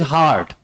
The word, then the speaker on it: heart: I tell him that it is not hurt, it is hard.